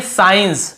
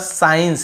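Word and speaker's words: science: यहां पे देखिए साइंस हम केवल एस के बाद साइंस ऐसे पढ़ रहे हैं। एस को यहां पे स्काइ ऐसे नहीं पढ़ रहे।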